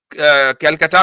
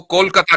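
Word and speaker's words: Kolkata: आपने कैलकाटा को कोलकाता कर दिया, क्योंकि उसका प्रोनाउंसिएशन कोलकाता है ना, बंगाली प्रोनाउंसिएशन, कि इवन हुँ,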